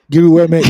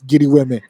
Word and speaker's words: GRWM: Giri Weme is called Get Ready With Me, GRWM. But we pronounce it here in Nigeria for the streets, Giri Weme.